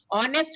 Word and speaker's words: honest: जैसे ऑनेस्ट, ऑनेस्ट में एच is silent, तो ओ आता है, HONEST, तो ओ को आप देखेंगे तो कौन तो सी मैम साउंड एन आती लगेगा।